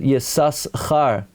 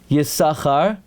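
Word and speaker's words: יששכר: his Perish Al HaTorah, the first time you pronounce it Yisas Char, to show that's his name, and after that Yisachar, the Mincha Shai says you should say Yisachar every time.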